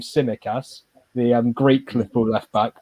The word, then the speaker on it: Tsimikas: I think that's how you say his name, Tsimikas, the Greek Liverpool left back.